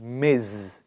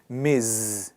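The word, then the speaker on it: Ms.: अब आप कहेंगे बट रिदान ये तो मिस हुआ, इसकी प्रोनाउंसिएशन है मिज। Please repeat after me, मिज। जेड से ये वर्ड खत्म होता है।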